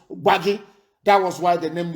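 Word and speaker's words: Gbagi: It is not Gwari. It is Waggy. That is the correct pronunciation. Because in Hausa intonation, they cannot pronounce Waggy.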